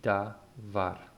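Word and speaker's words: דבר: And so here the pronunciation will be davar, davar.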